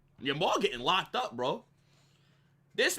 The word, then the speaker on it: Yamal: Yamal, I said Lamal.